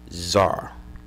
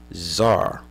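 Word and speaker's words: tsar: word for their leader Zar all right the C is silent Zar okay comes from yeah you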